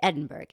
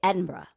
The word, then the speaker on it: Edinburgh: So whenever I was there, I was like, I know not to say Edinburgh. You got to say Edinburgh.